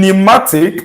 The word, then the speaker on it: pneumatic: In pneumatic, the sound you have there is this. The new sound.